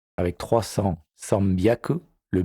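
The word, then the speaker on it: 三百: Voici pour la prononciation des centaines. Hyaku, ni hyaku, sanbyaku, yon hyaku, go hyaku, ropyaku, nana hyaku, hapyaku, kyu hyaku.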